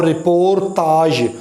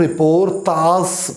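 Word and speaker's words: رپورتاژ: اور رپورتاج، اس سے کچھ لوگ رپورتاز پڑھتے ہیں، سین کی آواز جو ہے وہ غلط تلفظ ہے، جہاں بھی یہ والی جو ہے وہ آتی ہے نا، جس رے کے اوپر اگر 3 نقطے ہوں تو یہ کی آواز دیتی ہے، جیسے وہ ایران کا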